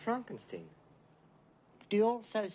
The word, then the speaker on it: Frankenstein: putting me on yeah it's pronounced Frankenstein do you also say